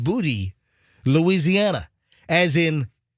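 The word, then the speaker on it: Boutte: it happened in uh booty Louisiana oh there's a booty Louisiana there is I've been there a bunch I've never seen the booty it's b-o-u-t-t-e but it's pronounced booty Louisiana as ink [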